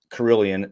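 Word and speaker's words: Carilion: you want good care, but you guys have Carillion. I'm not trying to steal your thunder. Did I pronounce it right?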